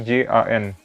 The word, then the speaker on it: Jan: Jadi itu kayak Y. Kalau misalnya di suatu kata, contohnya misalnya tipikal nama Jerman di sini Jan. Jadi tulisannya itu bukan Y-A-N tapi J-A-N. Jan.